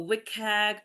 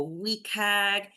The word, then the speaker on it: WCAG: However you want to pronounce it, it doesn't matter. We're not expecting perfection. I go wikag. Some people go wagg.